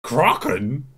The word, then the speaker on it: Kraken: or with a long a crotland zara it's pronounced in the original kraken don't touch my dip such a wide shower